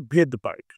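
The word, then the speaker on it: Svedberg: এই যে ভেদবার্গ বানানটা, এই ভেদবার্গ বানানে কিন্তু আবার সামনে এখন এস আছে। যেটা আমরা প্রনাউন্সিয়েশন সময় করব না প্রনাউন্সিয়েশন।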